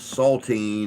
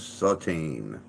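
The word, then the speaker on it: Satine: Deb good job Lee it is not salting it is sateen in what 1950 drama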